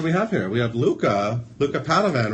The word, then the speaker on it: Luca Padovan: We have Luca Padovan, right?